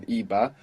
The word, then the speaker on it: iba: In the past it's spelled with a B, I-B-A, iba, where in the present it's spelled with a V, V-A. But as we know, they are very similar sounding.